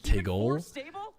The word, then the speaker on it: Tigle: You pronounce my name Tigle.